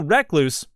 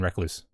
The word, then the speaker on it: recluse: I was pronouncing wrong. I was like, no. Recluse. It's named after the brown recluse spider. Not recluse. At any rate.